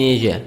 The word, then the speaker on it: Asia: A country in Asia. So this word Asia, هذا النطق دي نطق بتاع الكلمة دي بريطاني وأمريكي.